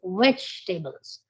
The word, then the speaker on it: vegetables: the word wrongly like most of the people they say vegetables it is not veggie it is vegetables veget yeah the second e has to be dropped down vegetables third word that